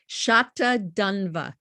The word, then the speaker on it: Satadhanva: Did I pronounce that right? Satadhanva.